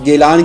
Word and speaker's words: گیلان: ایران میں موجود ہے۔ گیلان کا تلفظ اہل عرب نے جیلان استعمال کیا ہے، اسی نسبت سے آپ جیلانی مشہور ہوئے۔ حضرت عبد القادر جیلانی